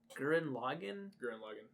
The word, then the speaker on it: Gurren Lagann: How do you pronounce it? It's Gurren Lagann. Yeah, Gurren Lagann.